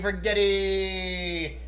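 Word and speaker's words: Righetti: And his name rhymes with spaghetti. Rigetti Spaghetti.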